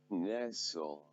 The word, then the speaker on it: nestle: So quickly, let's move on to some of the examples where S, T, L, E are present and then they are silent.